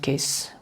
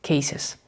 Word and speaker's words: cases: This is not pronounced case. We have to pronounce it cases.